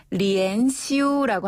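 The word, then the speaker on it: 连休: 연휴 연휴는 뭐라고 합니까네 연휴는 리엔 시라고 하는데요 리앤시네 이것도 글자 그대로 한자 발음을 그대로 중국식으로 바꿔서 리엔 시라고 해요 리엔 슈네음 좋습니다 리엔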